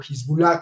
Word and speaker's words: Hezbollah: lo estamos viendo, el líder de Hezbollah, o Hezbollah, como dicen algunos, este señor está súper preparado,